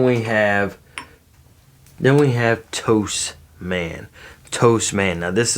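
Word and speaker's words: Tous: pronounce it too, but I found out it's a Spanish company and it is pronounced toast.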